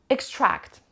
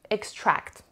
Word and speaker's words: extract: The next word is a little bit tricky in the pronunciation. Listen to me carefully. Extract. Extract.